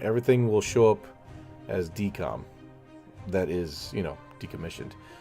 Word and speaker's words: Decom: So it's D-E-C-O-M. Just a real quick shortcut pronunciation. Decom.